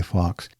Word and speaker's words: Fawkes: many different uh countries uh I'd like to spell that last name it's f a w KES f a wkes sky Fox so Gary I think we can at this